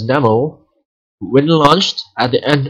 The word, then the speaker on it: N3MO: Dev and the California Maritime Industry, or University rather, are developing an autonomous boat called N3MO, or NEMO, pronounced as NEMO.